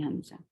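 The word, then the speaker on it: همزة: There are only 2 letters to pronounce this letter. So we'll stretch it 2 haraka long, because this is only mad. So how we can stretch mad? We cannot stretch mad more than 2 counts.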